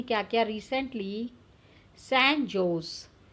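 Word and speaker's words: San Jose: यूएस ने क्या किया रिसेंटली, सैन जोस, सैन हॉज उसको हम प्रोनाउंस करते हैं, state of university जोस university में स्टूडेंट्स ऑनर्ड देम.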